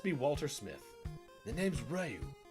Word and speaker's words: Ryu: I will flip-flop all over that pronunciation because for like the longest time of my life, I said Ryu. And then when the Xbox versions of the game started coming out and they called him Ryu, I was like, hold on a second. Wait, what? Then I realized how that pronunciation was the actual correct one and I've been